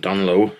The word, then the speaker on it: Dungloe: That's us back at the ranch, and another weekend, a good weekend up in Dunlow. If you see it written down, it's like Dunglow, but the G is silent.